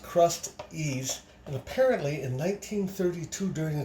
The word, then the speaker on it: Krusteaz: It's pronounced Krusteaz.